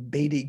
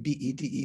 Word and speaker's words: Bede: I used to call him Bede Griffiths, like B-E-D-E, but I think it's pronounced Bede.